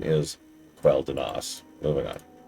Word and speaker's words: Quel'Danas: So, I'm going to keep saying Quel'Danus and Quel'Thalas to distinguish the two areas. But yes, the correct pronunciation is Quel'Danas.